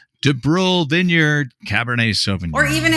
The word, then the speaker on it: DuBrul: right and the vineyard you already said it de BR de BR mm D BR du b r